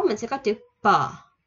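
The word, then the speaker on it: ㅂ: P không phải như là bờ của Việt Nam bình thường mà nó bặm môi và đọc thật là đàng hoàng. P. P. P. Bặm môi bật ra nha các bạn.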